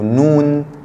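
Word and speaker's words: نون: Et la lettre suivante, c'est le noun. Noun, c'est le N. Noun, ça s'écrit comme ça quand il est séparé et quand il est attaché, il s'écrit comme ça. Noun, noun, N.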